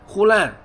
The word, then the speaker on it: Hulan: Hulan, Hulan, she said, pronouncing it slowly, the same as her Chinese name.